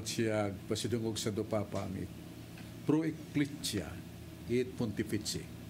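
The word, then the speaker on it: Pro Ecclesia et Pontifice: O kadawat siya pasidungog sa dupapa ang Pro Ecclesia et Pontifici. Pro Ecclesia et Pontifici. That's the pronunciation.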